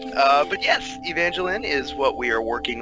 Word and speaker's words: Evangeline: Down where we are, we just say Evangeline, so kind of like more like the name Lynn. Either is right, say it however you want. But yes, Evangeline is what we are working on right now.